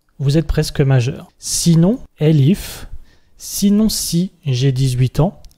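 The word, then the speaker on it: elif: chose de nouveau et ça s'appelle le lcif mais ça s'écrit l ihf ça veut dire sinon si et on va dire si j'ai 17 ans vous êtes presque majeur sinon l ihf sinon si j'ai 18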